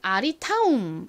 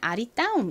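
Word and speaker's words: ARITAUM: 우를 유로 표기합니다 그리고 m 원래 쓰여진 대로라면 아리타 이렇게 발음이 될 텐데요 어이 브랜드 명은 아리 타은 아니고요 아리따움입니다 원래 표기법대로 읽으면 아리타이 되는데요 어이 브랜드 명은 아리따움 있니다 원래는 한국어에 이렇게 쌍 자음을 표기를 할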